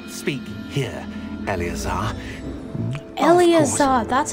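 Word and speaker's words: Eleazar: I must say I best not speak here elazar El that's how you pronounce it why don't we speak on route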